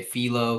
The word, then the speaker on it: Philo: It changes depending on like what language you speak. Like if you speak like a Romance language, people usually say philo because that's how you pronounce the I's. But philo is either or, it's okay.